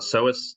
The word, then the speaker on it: psoas: So we've got psoas. So that's the bit at the top, which is spelt with a P, which makes total sense.